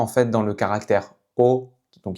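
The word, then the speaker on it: 哦: Donc elle est seulement en fait dans le caractère O, donc qui se prononce comme en français O, et dans ce caractère qui se prononce lo, donc ton neutre.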